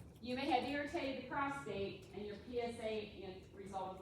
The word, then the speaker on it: prostate: Digital rectal exam is palpation of the prostate. It's called a prostate. It's not called a prostrate.